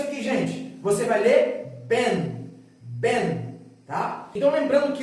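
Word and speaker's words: בן: Você vai ler Ben, Ben, tá? Então lembrando que o N, ele vai sempre ser pronunciado dessa forma, ó.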